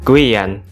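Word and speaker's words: Guyane: guyana Prancis Nah kalau dalam bahasa Prancis dibacanya Guan Mungkin banyak dari kalian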